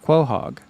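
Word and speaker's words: Quahog: right no Family Guy is uh K Hawk quo hog it's q-u-a it's a it's named after uh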